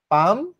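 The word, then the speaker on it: palm: কিছু দেখেছিলাম হাতের তালু পাম পামার হাতের তালু হচ্ছে পাম পামার এখানে এল এর উচ্চারণটা হবে না এল এর উচ্চারণটা এখানে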